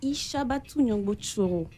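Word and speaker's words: Ichabatou Gnongbo Tchoro: Alors, la prononciation de mon nom, c'est Ishabatu Nyongbo Choro.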